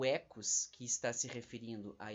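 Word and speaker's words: οἶκος: a primeira palavra aqui que se escreve desse jeito Oikos mas que a gente lê na verdade em grego como ecos e a palavra Logos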